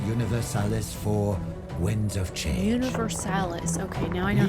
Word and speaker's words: Universalis: Universalis. Okay, now I know how to the fucking pronounce it.